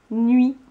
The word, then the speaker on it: nuit: Je te demande maintenant d'écrire le mot nuit. N'oublie pas la lettre muette à la fin. Vérifions. Le mot nuit s'écrit N-U-I-T.